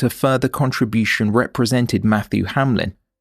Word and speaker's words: Hamlen: A scene of crime examiner, Michael Appleby, would later testify that no one else could be a better fit than Matthew Hamlen (pronunciation: Ham-lin).